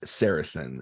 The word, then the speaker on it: Sarasin: you say your name how do you pronounce it properly sure it's uh sarison and it's actually French so yeah my uh